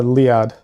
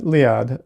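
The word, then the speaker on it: Liad: Oh, it's uh Lead Thanks, Dez. Yeah, Lead. Uh, usually usually it's spelled L I A D, which is closer to how it's pronounced, I guess, depending on how you want to emphasize things.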